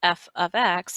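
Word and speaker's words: f(x): This is not pronounced f times x. This is pronounced f of x, and it's just simply called function notation.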